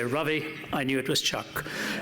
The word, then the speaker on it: Ravi: a new India well my name is rightly pronounced as Ravi rhymes with lovey and dovey but because it's so anglicized they call it Ravi whenever I was on